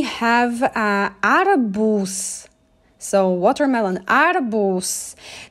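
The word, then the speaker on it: arbuz: arabus so watermelon arbos notice that even though the last letter is z i pronounce it like letters s and it's always because we like to say in pronounce things softly okay and it will be really awkward to say like to to highlight that so make it soft adabus now we have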